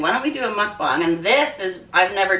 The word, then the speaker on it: mukbang: Oh, North Americans call it mukbang, but I don't know. I looked it up and it said mukbang, so we'll just go with that.